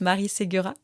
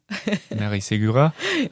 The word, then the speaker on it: Marie Segura: Oh, just Marie Segura. Marie Segura.